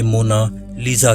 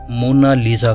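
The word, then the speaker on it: Mona Lisa: कोई इसे मोनालिसा कहता है तो कोई इसे मोना लीजा कहता है, लेकिन इटालियन में इसे मोना लीजा कहा जाता है।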